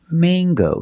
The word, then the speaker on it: mango: Mango. Use the long a. It's not mango and it's not mango in English. It is mango. With this word, we pronounce the hard g sound.